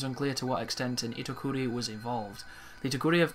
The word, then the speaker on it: Itokuri: And then there's a spider, pronounced Itokuri.